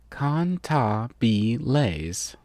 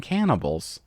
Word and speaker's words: Cantabile: Its proper pronunciation is Cantabile. The way you were saying it made it sound like you were saying cannibals.